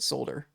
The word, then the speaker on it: solder: Yeah, he said solder. It's spelled with He's a roboticist, so I assume that he knows. It's spelled with an L, but it's not pronounced.